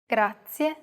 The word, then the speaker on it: grazie: Do you remember the trilled R? We talked about it in lesson 2. Even though it looks like the English R, the pronunciation is very different.